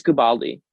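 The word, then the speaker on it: Guobadia: I didn't know how you pronounce it. It's Gubaldi.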